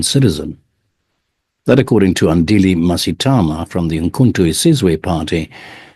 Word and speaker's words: Mngxitama: It's got those clicks which we inherited from the Khoisan. That's the sound. How do you say that sound, Andile? Is there a click to it? Yes, Mngxitama.